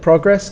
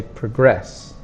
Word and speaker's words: progress: next it's progress and notice that progress can also be a verb but we changed the sound when we use the verb we say progress progress is the noun progress It's the verb question to ask how